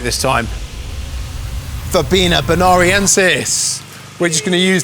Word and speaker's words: Verbena bonariensis: Verbena bonariensis.